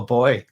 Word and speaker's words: buoy: buoy or a boo or a buoy which i think is quite good we call it a boy over here um and i was